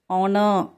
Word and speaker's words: honour: Honor. Here H is the silent.